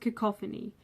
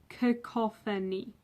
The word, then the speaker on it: cacophony: If you're wondering how it's pronounced, it's pronounced cacophony. cacophony cacophony Now, for the final one, number 10, I thought I would do something that is quite apt.